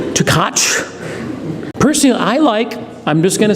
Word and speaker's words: Tkach: The first thing I want to say about today's speaker is how to pronounce his name. Tkach.